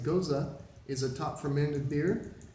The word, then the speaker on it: Gose: originated okay so uh go is a sorry I mispronounced it goza is a top fermented